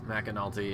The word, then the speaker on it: McAnulty: In fact, there's an L. You gotta pronounce it. McAnulty is also staying out right now.